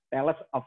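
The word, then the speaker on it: Thales: oleh-oleh Kota Bogor ya Adek tulisannya itu thls yo yah Orang Sunda itu yang suka dibilang talas ya Talib ya alis tapi dibacanya tales.of miletus ya kalau dari of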